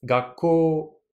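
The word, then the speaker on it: 学校: L'intonation, c'est gakko. Donc ici, bien sûr, je monte.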